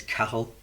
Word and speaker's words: Cathal: yeah man you know my name I pronounce it is cattle yeah and that in northern and you say cattle in the South it's pronounced totally different so my mum's from